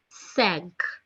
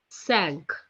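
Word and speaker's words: cinq: as c i n q which is being pronounced as sank sank is written down as exactly same what we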